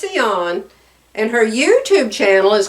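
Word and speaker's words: Sian: not an American spelling her name is seon and her YouTube channel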